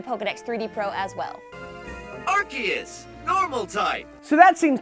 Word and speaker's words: Arceus: is a valid pronunciation based off the Japanese Katakana symbols of his name arus USU so you